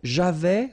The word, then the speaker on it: avais: So j'avais, final S not pronounced, tu avais, il avait, final T not pronounced, nous avions, let's make this beautiful liaison here, nous avions, okay?